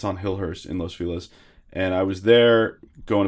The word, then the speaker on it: Los Feliz: know I like those oh how do you pronounce it Los Feliz it's supposed to be Los Feliz but everyone says Los Feliz which is not the correct pronunciation it feels